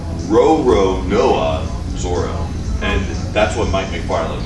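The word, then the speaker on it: Roronoa Zoro: say it properly that lots of people say Roanoke Zorro but that's not correct row row Noah Zorro and that's what Mike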